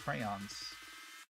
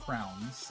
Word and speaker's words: crayons: They're not crowns. A lot of people mispronounce it and say crowns. It's crayons. Yeah, it's crayon. It's not crayon. It's not crayon. It's crayon. Crayons.